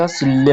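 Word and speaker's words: 실내: भनेको विशेष विषय विशेष सिल्ले यो सिलने छ र ले नलाई भेटा नि उच्चारण चाहिँ ल गरिन्छ सिल्ले भन्नु पर्यो सिल भनेको कोठा ने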